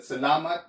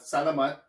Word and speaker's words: salamat: So you pronounce it salamat, not salamat, which means thank you.